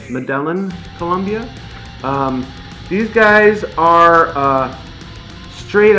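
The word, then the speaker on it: Medellín: Actually, they are from Medellin. I think that's how you pronounce it, Medellin, Colombia.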